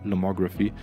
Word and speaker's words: Lomography: so dass die Firma Lomography glaube ich spricht man es aus auf Englisch es ist eine österreichische Firma aber es ist Englisch geschrieben deswegen würde ich sagen Lomography die stellen diese Filme